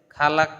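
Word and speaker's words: خلق: এখানে অনেকগুলো, যে এখানেও আনতা লেখছে, খালাক, খালাক তানি লেখছে, খালাক হবে না, খলাক তানি হবে।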